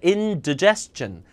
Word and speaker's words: indigestion: indi가 아니라 indigestion. indigestion.